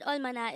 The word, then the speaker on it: 얼마나: hangout word number 251 this is pronounced as a three-syllable word the first little voice oil second syllable is ma third syllable is na pronounce it with me the word almana is used to ask